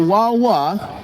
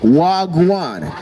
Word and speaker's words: wagwan: Not wawa, wagwan. It is spelled w a a g w a n.